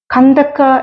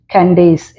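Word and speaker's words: Candace: തന്നെ ഇംഗ്ലീഷിൽ സ്പെൽ ചെയ്തിരിക്കുന്നു കന്തക്ക എന്ന ഒരു രാജ്ഞിയെ കുറിച്ച് അപ്പോസ്തല പ്രവർത്തികളിൽ നാം വായിക്കുന്നുണ്ട് എത്യോപ്യ രാജ്ഞി ഇംഗ്ലീഷിൽ അവരെക്കുറിച്ച് എഴുതിയിരിക്കുന്നത് അവരുടെ സ്പെൽ ചെയ്തിരിക്കുന്നത് സി എൻ ഡി എ സി കാൻഡേസ് എന്ന് വായിക്കും ഒന്നുകൂടെ ശ്രദ്ധിച്ച് ആ സ്പെല്ലിംഗ്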